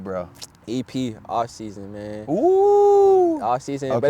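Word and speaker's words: OFFSZN: EP offse man oo off season but it's called it's spelled off Zen though but I'm it's I'm saying offseason but it's spelled like off and then szn okay offseason yeah so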